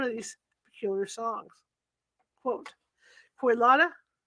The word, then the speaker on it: Kolyada: Quote, Kolyada, that's Kolyada, I'm sorry, I mispronounced it.